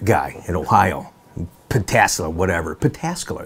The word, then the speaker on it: Pataskala: Pataskala is how you say it, just outside of Columbus.